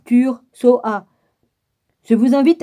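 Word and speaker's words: Ture: Ça s'écrit Om, O-M, plus loin Tar, T-A-R-E, plus loin Tutar, T-U-T-T-A-R-E, après c'est Tur, T-U-R-E, puis après c'est Soha, S-O-H-A, tout en majuscule.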